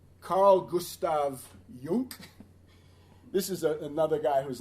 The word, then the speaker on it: Jung: Carl Gustav Jung. This is another guy who's not good. I actually call him Carl Gustav Junk, which is the proper German pronunciation.